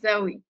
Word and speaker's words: Zoe: Hi, my name is Zoe. Okay. Like Z-O-E. And how do you pronounce?